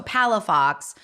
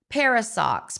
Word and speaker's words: Palafox: some reason very challenging even though it's phonetically you know so Palafox but I get called parasox Paradox palacox oh I'm not kidding